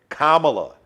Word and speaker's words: Kamala: and kamala hairs and pronouncing her name wrong kamala it's vice president kamala like comma put some respect on